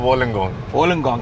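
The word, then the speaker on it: Wollongong: what is the name like how do you pronounce the University's name it's called University of Wong wenong can we head that side let's go okay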